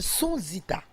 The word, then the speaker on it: Sonzita: Et à nos côtés, nous avons une chanteuse, comédienne, je prononce bien, Sonzita, Tout à fait. tout court. Oui. C'est qui Bonjour. Sonzita?